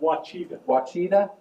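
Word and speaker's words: Ouachita: Ouchita. college in Arkadelphia, Arkansas, somewhere out in Arkansas. Wachita. How'd you say it? Wachita. Wachita College out in Arkadelphia.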